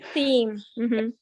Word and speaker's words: theme: um um up here this word theme looks like them but it's actually theme okay theme a theme is like